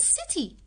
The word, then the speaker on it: city: And look at the word city. City. The C is also followed with I, so we will pronounce it softly as sa.